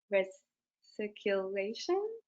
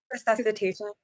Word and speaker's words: resuscitation: Sorry, I can't pronounce that one. Reciculation. Resuscitation.